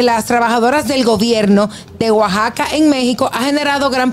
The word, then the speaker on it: Oaxaca: México está viral Cómo Oaxaca Ah sí dice Oaxaca al igual que no se dice México los pueblos o regiones con x de México no los sabía todos